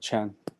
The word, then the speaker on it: Qian: one that's it yes this helps you to pronounce my this Chinese character chan chan yeah yeah yes yeah thank you no